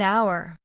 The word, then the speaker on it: hour: An hour. An honest man. An heir. The h is not pronounced in these words.